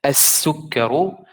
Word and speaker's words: السكر: السكر here ألف لام شمسية. Seen is one of these letters, so seen will have shadda and the lam will be empty.